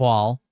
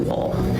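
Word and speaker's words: Wohl: So that's these two guys, Jacob Wall and Jack Bergman. And Wall is spelled W-O-H-L, and Jack Bergman.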